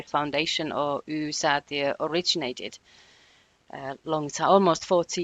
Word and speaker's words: Y-Säätiö: head of research at, I read it as Saitio. I'm sorry I didn't ask you before we hit record how to pronounce it.